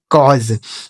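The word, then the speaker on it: cause: इस ए और यू का उच्चारण अ हो गया। एस ई से ज इसे पढ़ेंगे कॉज।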